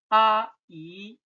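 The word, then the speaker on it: 阿姨: Aunt, 阿姨, aunt, 阿姨.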